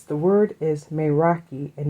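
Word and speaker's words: meraki: So, it's the word is maki and it's called and it's spelled m e r a k i.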